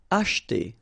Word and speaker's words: acheter: Acheter. Same thing here, we don't insist on this so acheter, acheter.